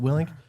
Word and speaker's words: Willink: Let's Let's So you guys listen to um Joo Willink. Did I pronounce that right? Is it Willink?